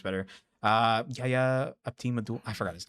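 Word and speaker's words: Yahya Abdul-Mateen: Yaya Abdul-Mateen.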